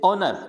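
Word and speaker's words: honour: जैसे ऑनर, इसको हॉनर नहीं पढ़ेंगे, हॉनर नहीं पढ़ना है, इसको क्या पढ़ना है, ऑनर।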